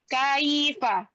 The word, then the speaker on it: كيف: Itu diucapkan secara lembut. Ya, namanya juga lin. Lin artinya mudah, lembut. Jadi pengucapannya bukan fa kaifa, kaifa, tapi kaifa, kaifa. Ya, suku tetap mengalir. K-nya tidak boleh diayun.